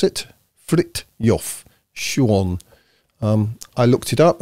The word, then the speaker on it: Frithjof Schuon: reading this book to have a center by frit yof Shuan apparently this is how you pronounce it frit yof Shuan um I looked it up and apparently that